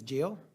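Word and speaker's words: Gil: Jill who I didn't say last name is Jill can you spell it no g-e-o g-i-l-g-i-l Jill is Miss Jill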